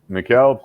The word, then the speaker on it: Mykel: Mine is Mykel. Mykel, perfect.